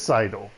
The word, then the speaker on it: sidle: I think it was playing, and I was confused how to say it. It is sidle, because sidle up. Yeah, like that.